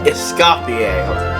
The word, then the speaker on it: Escoffier: Escapier. That's how you say her name. All right. Must be All right. Okay. Essafier.